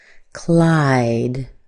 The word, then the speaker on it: Clyde: This is the sound I as in hi. Clyde.